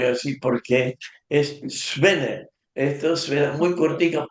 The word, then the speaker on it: Swinne: hay que tener cuidado porque el nombre preciso, y hay que pronunciar muy bien, y yo voy a decir por qué, es Svenne.